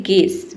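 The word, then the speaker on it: guess: यहां पे हम केवल जी ई डबल एस को पढ़ने हैं। यू को नहीं पढ़ने।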